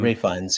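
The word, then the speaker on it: Ralph Fiennes: a lot about his performance in this uh Ralph fines is that how you pronounce it um Rines yeah yeah yeah yeah anyway I saw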